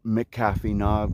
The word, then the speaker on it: McAfee Knob: however you pronounce it since it's spelled with a mc i pronounce it mcafee knob because that is the technical way you pronounce mc's um but man this